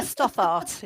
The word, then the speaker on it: Stothart: Stoppart. Just how it's spelled. Yeah. Okay. Stoart.